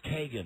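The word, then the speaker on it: Keoghan: It's Kagan, not Keegan. Kogan. No, Kogan. No, it looks like Keegan. We called him Phil Keegan, and he was actually Phil Kogan.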